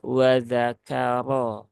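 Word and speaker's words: وَذَكَرَ: ringan ya wazzakaro wazakaro tapi yang tepat adalah wzakaro ro ro ro ro ro ro nah gu ya karena ro yang berbaris fathah dia harus diucapkan dengan tebal ya Eh kemudian di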